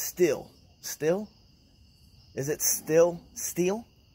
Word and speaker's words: Stihl: What it kind of STIHL still. Alright. We're just gonna call it stealth. Okay? Got my stealth leaf blower. Silent T. H.